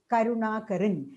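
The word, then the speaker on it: കരാർ: is a long a so when you write it in Malayalam we will read it as karaar but when you write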